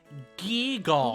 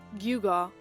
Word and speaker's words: gewgaw: Gewgaw. Oh, it's pronounced gewgaw.